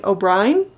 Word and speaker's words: O'Brien: the author is Robert C o'bri O'Brien O'Brien O'Brien that's just Brian yeah but it's spelled with an E what's wrong Robert C